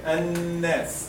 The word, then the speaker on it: الناس: Here, الناس. الناس. الناس. الناس. Take care here, for example, some people they make it like one beat, or like there is no gunna. They say قل أعوذ برب الناس. Nas.